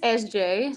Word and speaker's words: EszJay: So, my stage name is SJ.